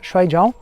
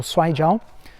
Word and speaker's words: Shuaijiao: Muito atleta de Sandá está buscando no Shuai-Jiao ou Shuai-Jiao. Inclusive vou falar nesse vídeo porque essa diferença de pronúncia, né? Você pode falar Shuai ou pode falar Shuai.